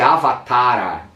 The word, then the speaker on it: avatara: índia da tradição védica a pronúncia é avatara com a no final e o h que